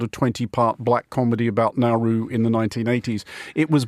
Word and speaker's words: Nauru: Well, I mean, Nauru is how it is pronounced in Nauruan, uh which is the local language, so fair enough.